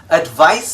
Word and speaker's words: advice: this video is incorrect advice spelled with a c and pronounced with an s sound is a noun but